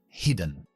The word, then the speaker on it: hidden: que es hidden hidden esta palabra tiene doble idea siempre y cuando tenemos doble consonante dividimos por la mitad de las consonantes las sílaba por lo tanto las dos sílabas son cerradas es decir cada vocal tiene que ser sonidos cortos como hace de adjetivo y este dos sílabas nosotros acentuamos adjetivos de dos siluelos al principio así que es heathen y